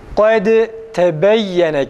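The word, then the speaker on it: قد تبين: Kad kelimesinin sonunda dal cezimli, tebeyyene kelimesinin başında harekeli ta. Dal harfini dedik ta'ya çeviriyoruz. Sonra ta'yı diğer ta'da idgam ediyoruz. Yani birinci ta'yı ikinci ta'ya katıyoruz. Böyle okuyoruz.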